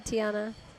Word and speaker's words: Tiana: Tiana.